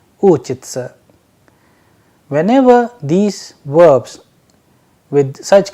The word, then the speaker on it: учиться: with sa and ya, that is why the pronunciation is uchitsa.